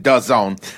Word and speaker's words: DAZN: All right, so outside of the cheesy acronym of a company, it's called DAZN, DAZN, but you're supposed to pronounce it DAZN.